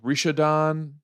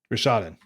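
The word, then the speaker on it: Rishadan: new card it's called rishidon dockhand rashaden thank you i i could hear myself mispronouncing it that's okay it's a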